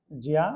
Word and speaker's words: ज्ञा: ठीक इसी प्रकार से ज्ञा, इसका व्यवहारिक उच्चारण बता रहे हैं हम, GYA, ज्या। अब लेकिन इसका वास्तविक उच्चारण क्या हो गया? व्यवहारिक रूप में ज्ञा हो गया है।